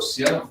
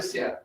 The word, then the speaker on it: Cian: Thiago, esse aqui é o Cian Wolfgang, se fosse Sean Connery, aí o nome já ia pronunciar diferente, mas esse para nós é Cian, né, um dos líderes aí da nossa área.